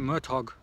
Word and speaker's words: Murtagh: Now it's actually Murtoch. You know, I can never pronounce his name properly.